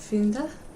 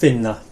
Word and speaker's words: finna: Finda. Að finda. Really close. Just finna. Finna. They used to have a D and they lost it.